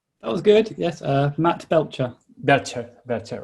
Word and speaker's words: Belcher: How is your surname pronounced, Matt? That was good. Yes, Matt Belcher.